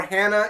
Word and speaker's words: Hana: get to talking about hana or hannah it's kind of pronounced both i stick to hana because of the spelling so talking about hana